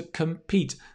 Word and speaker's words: compete: not com it's come it's the reduced schwa sound and the stress falls on pete that's why it has